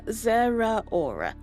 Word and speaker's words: Zeraora: Yeah, Zeraora.